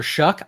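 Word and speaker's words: Shough: And it's Tyler Shuck. I believe that is the way you pronounce his last name.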